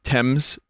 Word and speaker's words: Thames: the movie on the thames river sorry thames it's the thames right even though it's spelled t-h-a-m-e-s thames please don't say it